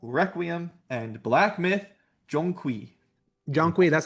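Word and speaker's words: Zhong Kui: Jonqui Jongqui, that's how you you pronounce it.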